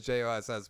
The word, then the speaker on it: Joss: If Yeah, you say I it, was gonna say I could have sworn they always said Josh. No, I remember it is JOSS, but I thought they pronounced it Josh.